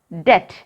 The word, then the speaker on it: debt: D-E-B-T. How can we read this? Debt. Repeat it, children. Debt. It is not debt, it is debt. Here, B is silent.